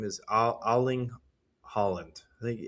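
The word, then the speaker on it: Erling Haaland: think his name is Aling Holland. I think I don't think you pronounce the e er evidently.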